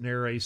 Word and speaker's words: nares: Since we're medical folks, we call them the nares or nares. Most doctors pronounce it nares, so I do too.